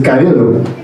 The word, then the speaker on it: Cabildo: Like, think of Bob the Builder, but like Cabildo the Builder. And a lot of people get weirded out by that name. They're like, oh, what is it? And it's like Spanish. And the way it's pronounced is Cabildo. Cabildo. That's my full name.